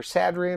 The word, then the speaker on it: Sadrian: Sadrian or Dr. Sadrian? True pronunciation is Sadrian, but most people say Sadrian. It's easier for them to pronounce it as Sadrian.